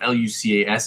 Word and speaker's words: Lucas: Is it Lucas or Luca? It depend because I I live in France so people whose name is spelled L U C A S it's pronounced Luca but in other places it's it's pronounced Lucas.